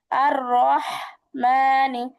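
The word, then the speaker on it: الرحمٰن: আর রহমানি, আর রহমানি। হাঁস ডাকলে যেমন একটা ফ্যাসফিসি আওয়াজ হয়, সেরকম একটা আওয়াজ হবে এই হ্যাঁ। হাঁস উচ্চারণ করার সময়।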